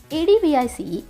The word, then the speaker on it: advice: ADVICE, advice. Here, C is pronounced as S. Advice.